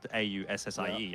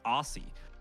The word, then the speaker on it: Aussie: Where like you know how you spell Aussie is AUSSIE, and then all the Americans will say Aussie, right? But we say Aussie, so just make it an S, but say it like a Z.